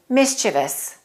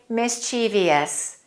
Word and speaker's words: mischievous: the correct pronunciation is mischievous mischievous don't say mischievious you will hear some Americans say that but you shouldn't pronounce